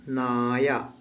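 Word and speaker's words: നായ: ठीक है, तो मलयालम में पट्टी को दूसरा एक और शब्द कहते हैं, ये है नाया। ना या, ठीक है ना, पट्टी नाया।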